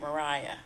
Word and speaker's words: Maria: So she was the right, I think we pronounce it Mariah.